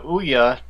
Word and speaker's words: Ouya: The Ouya is being bought out by Razer. Well, how is it Yeah.